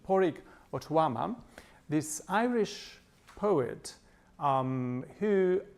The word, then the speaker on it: Pádraig Ó Tuama: she is and uh and Patrick or Poric sorry I have to remember the pronunciation of Poric Ottoama this Irish poet um